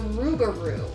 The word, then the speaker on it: Rougarou: just awesome next we're going to do the rougarou is that how you say it yeah it